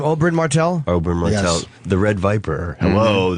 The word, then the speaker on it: Oberyn Martell: Oberyn Martell.